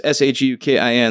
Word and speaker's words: Shukin: SHOOKEN. Wow. At least it was phonetically correct, but it's like, damn. So, but yeah, it's SHUKIN.